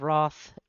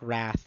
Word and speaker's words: wrath: this staircase we'll do another one moth of Roth it's dead it's actually pronounced wrath but it's just more fun to say moth Roth so yeah uh uh again Zod is intimidating